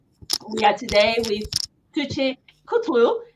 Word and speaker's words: Kutlu: How do you pronounce the And surname? Kutlu. So I Kutlu. said right. The last video I messed up. I edited it because I called you.